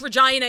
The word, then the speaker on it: Regina: Regina? Sorry, I'm from Canada. It's pronounced Regina here.